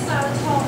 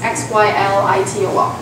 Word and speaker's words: xylitol: Why is xylitol healthy?